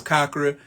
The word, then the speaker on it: chakra: The proper way to pronounce it is chakra. It's Sanskrit and it means wheel.